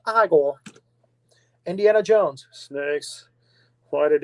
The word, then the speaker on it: Igor: max you never called igor marty feldman no it's pronounced igor indiana jones snakes why